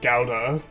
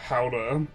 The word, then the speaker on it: Gouda: In English, Gouda is commonly pronounced as uh Gouda or sometimes Gouda. Gouda is like the way I hear it. But the Dutch is similar to who uh Gouda.